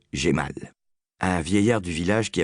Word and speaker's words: Jamal: cravate louée pour une bouchée de pain à Jamal, prononcé Gémal, un vieillard du village qui avait été représentant